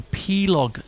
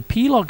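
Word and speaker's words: pelog: we have a scale called the plog scale that's p e l o g once again I hope I have pronounced it properly and essentially um a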